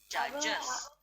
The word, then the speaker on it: judges: Judges. Yes. Our Wait, art teacher himself. wait. අපි මෙතන මේ D අකුර silent.